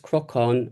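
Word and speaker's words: crocán: And then the crocon pronounced crocon as it would be in kind of Irish which it seems Westmeath you know, belong to that dialect area.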